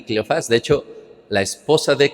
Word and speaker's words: Cleofas: Unos lo pronuncian como Cleofas. Bueno, de hecho creo que sí es Cleofas porque lleva acento.